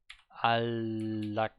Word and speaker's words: 안락하다: the one where alakada, where you have an N that is basically an L. It gets pronounced as an L. 안락하다.